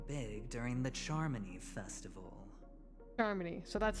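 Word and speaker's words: Charmony: pulling off something big during the Charmy Festival Charmy so that's how it's pronounced or someone else made the invite and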